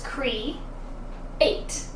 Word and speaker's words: create: nor is it correct it's Cree eight so we hear that you sound Cree and we hear the a sound eight if we break it